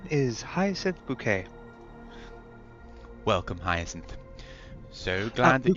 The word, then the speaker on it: Bucket: my name is hin bouquet welcome hin so glad that you've got interest in b u c k e t it's spelled like bucket I know um High bouquet